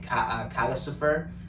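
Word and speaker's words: Calcifer: Calicifer, which is like Lucifer, but with the cow, who helps Howl.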